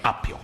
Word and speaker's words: appio: Che si scrive con una P. Esatto, è vero. Sacro Coriga, Come gli spagnoli, con una P, appio. come è dal latino apium.